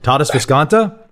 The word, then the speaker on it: Tadas Viskanta: want to make sure I've got a proper pronunciation before I start saying things that are not right. Tadas Viskanta?